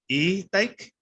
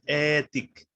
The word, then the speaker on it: etic: Okay, so it's etic, because in Spanish the E is e, and in Spanish the I is E.